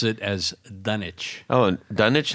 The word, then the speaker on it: Dunwich: I said what did you say d you pronounce it as dunich oh dunich not Dunwich no do you say greenwitch Village yeah okay you say Grenich so so how is it pronounced dunich dunich d d I guess it is yeah that